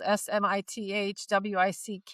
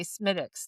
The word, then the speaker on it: Smithwick: If you order my favorite beer in Ireland, which is spelled SMITHWICK, you say Smittix, not Smittix, not Smithwick.